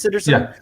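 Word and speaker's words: Sitterson: name is aubrey citizen is that how it's pronounced citizen yeah so yeah citizen and um was it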